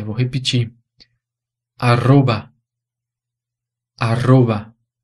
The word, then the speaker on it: arroba: mas como vocês já viram, é pronunciado diferente. E eu coloquei esse R duplo aí em vermelho, não foi à toa, não. Ele tem aquele som vibrante múltiplo que eu mostrei antes.